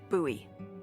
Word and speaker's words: Bowie: no warning he pulls out this huge Rusty Bowie knife it's actually pronounced buoy what no it's it's like the last name